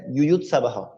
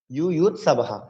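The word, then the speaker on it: যুযুৎসবঃ: যেমন প্রথম অধ্যায়ে প্রথম শ্লোকে প্রথম ছত্রের লাইনের শেষে রয়েছে ইউয়ুৎ সাবাহ, ইউয়ুৎ সাবাহ, অর্থাৎ বর পরে বিসর্গ রয়েছে। তাহলে এই বিসর্গের জন্য আমরা হ উচ্চারণ করি।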